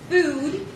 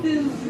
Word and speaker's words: food: So try it with me again. Food. Versus, add that extra W at the end. Food.